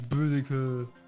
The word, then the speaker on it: Boudica: Fuck, I don't even know how to pronounce that. Let me ask Google. Boudica. Boudica. Boudica. Boudica. Boudica. It's Boudica.